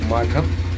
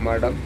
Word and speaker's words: മഠം: അപ്പോൊ ഉദാഹരണമായിട്ട് മഠം എന്ന് പറയേണ്ടതിന് മടം എന്ന് പറയും.